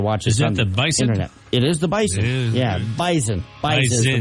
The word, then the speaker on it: Bison: interet it is the Bison yeah bison bis is the way they pronounce it they're picky about how they pronounce that yeah it's like a z even though spelled with an S but whatever North Dakota